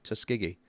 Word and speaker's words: Tuskegee: Am I pronouncing that correctly? Tuskegee.